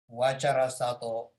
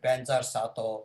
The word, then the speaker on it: Vajrasattva: In Tibet, Lamas, they read Banjar Sato Samaya. Banjar, Vajar is same. The Banjar is our Tibetan's pronunciation. It's a Sanskrit word. I think early time we cannot pronounce very good, maybe some of them. So they used to say Banjar, but actually it should be the Vajra Sato Samaya, right?